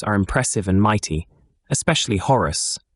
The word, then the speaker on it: Horus: The elemental gods are impressive and mighty, especially Horus, pronounced Orus, who carries various bracelets or rings of massive gold around his forearm.